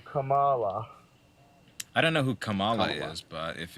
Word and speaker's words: Kamala: I don't know who Kamala is but if it's Kamala you're referring to then yes what did I say Kamala it's Kamala Kamala Kamala like Pamela Vanessa join I mean I